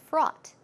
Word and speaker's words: fraught: fraught with danger now what's the word fraught if our au ght pronunciation is fraught front front front with